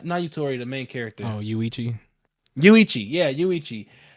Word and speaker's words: Yuichi: Yuichi. Yuichi. I keep saying Yurichi like it's One Piece or something.